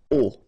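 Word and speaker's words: aux: And then A plus les will become O, A-U-X, but then remember that phonetically it's O.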